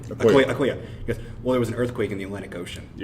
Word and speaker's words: Okoye: How do you pronounce her name? Okoye.